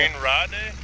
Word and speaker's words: Gemeinde Rade: Hey Mark, do you want to pronounce the map for me, please? Gemeinde Rade. There you go. Gemeinde Rade.